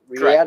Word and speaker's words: Riyadh: Is that Riyadh? Correct. That's how you say it? Riyadh. Riyadh.